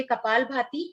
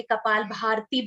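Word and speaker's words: कपालभाति: तो पहला हम अभी करेंगे कपाल भाती। इसका मतलब पहले तो राइट प्रोनाउंसिएशन उसका, क्योंकि बड़े बड़े लोग भी गलती करते, कपाल भारती बोलते। तो कपाल का मतलब है फॉरहेड और भाती का मतलब है ग्लो।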